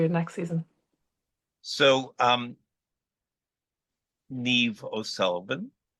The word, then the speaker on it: Niamh: so um Neeve Ulan your first name is spelled n a MH how did the Germans pronounce it oh God they called me I was called Everything I was called nymph neam Nima everything I had a I had